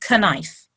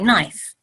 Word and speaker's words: knife: with a K but we don't pronounce the k we don't say k knife we say knife the K is silent so in all languages